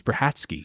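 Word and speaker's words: Brachacki: s of braki because it's b r a c h a c k i or something it's bratsky because he's uh I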